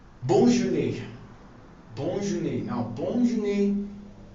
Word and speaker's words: bonne journée: You can as well wish me bonne journée. So it is pronounced as bonne journée. Bonne journée.